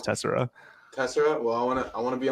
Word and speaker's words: Tessera: I think internally the team says Tessera, but we also see Tessera or hear Tessera a lot.